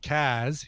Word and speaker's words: Cars: On July 11th, I'll be turning 52, and would love to hear a cover of my favorite band, The Cars, pronounced Kaz, here in Boston.